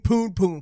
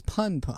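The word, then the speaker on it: Punpun: I was under the impression the pronunciation was pun pun. Some people call it Pun Pun. Some people, I think, pronounce it Poon Poon.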